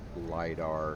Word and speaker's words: LiDAR: Well, What is- that LiDAR short range thing on the multi-tool. Eventually I'll figure it out. Well, that rhymes with Vidar, and Vidar is a Finnish howitzer.